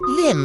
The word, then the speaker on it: L1MB: His name is L1MB. To pronounce Lim, he is the one with the orange skin and studded cartoony beard.